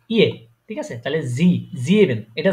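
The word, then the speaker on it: sieben: যে ই তারপরে এ ইয়ে ঠিক আছে তাইলে জি ইভেন এটা জাইবেন না হয়ে জি ইভেন হয়েছে তাই না জাইবেন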